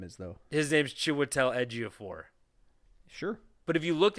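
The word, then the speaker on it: Chiwetel Ejiofor: You couldn't be like because it's like a J. It's like a Wian J. It's like Giannis in the NBA.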